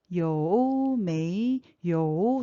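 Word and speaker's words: 有没有: 요는 삼성이고, 메이는 이성이고, 요는 또 삼성이에요.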